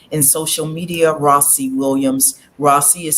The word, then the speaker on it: Rawsi: Rossi is spelled R-A-W-S-I.